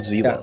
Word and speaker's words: Zila: Is that how you pronounce his username? Yes, I was informed Zila.